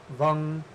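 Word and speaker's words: वं: Lam, Vam, Ram is actually pronounced Lang, Vang, Rang.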